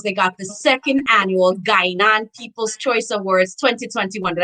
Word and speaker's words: Guyana: Sometimes I confuse, but so I know that in Barbados they got the second annual Guyana People's Choice Awards 2021. Did I say it right? Gain on.